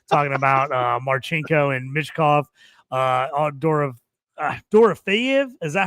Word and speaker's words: Dorofeyev: Toast will be talking for an hour if we had him on here right now, talking about Marchenko and Mishkov, Dorofeyev.